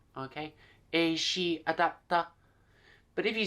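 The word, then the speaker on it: エーシーアダプター: the wall was similar is she adapter is she adapter okay so the C gets pronounced as she okay is she adapter but if you say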